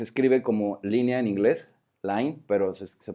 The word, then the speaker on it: Line: Line, que se escribe como línea en inglés, line, pero se pronuncia Line.